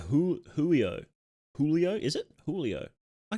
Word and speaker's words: Giulio: Pronounced like Julio.